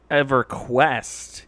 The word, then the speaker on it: EverQuest: how was that pronounced EverQuest yeah for quest emphasis on the capitalized Q in the middle of the word exactly it's a camel